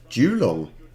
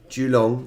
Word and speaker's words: Geelong: will be doing that it's in victoria okay julo am i just so even then i'm saying